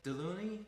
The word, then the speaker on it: Delauney: was saying it wrong but am I saying deloney yeah I think for the English speaking version